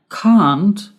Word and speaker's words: can't: can't what's the difference can't is the pronunciation in american english and kant is the pronunciation in british english can't can't can't can't